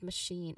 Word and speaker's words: machine: So ticket ticket machine for machine the stress is on the second syllable shin okay which um you know which has a clear long e sound shin. Now the first syllable ma should be a soft unstressed sound.